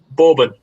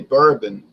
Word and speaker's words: bourbon: um pronounced that word say that word again borbon pronouncing completely incorrectly we say bourbon oh okay bbon bbon